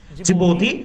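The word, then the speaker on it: Djibouti: country আছে this is call জিবতি জিবতি but pronunciation is জিবতি R Yemen এই Yemen আর জিবতির মাঝে জন্তু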